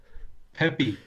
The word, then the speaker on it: Pepe: The horse was called Pepe, but they pronounced it like how do they pronounce it? Peppy. Pepe. But like I had the subtitles on.